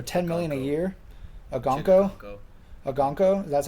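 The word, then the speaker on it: Okonkwo: Agonko? That's how you pronounce it?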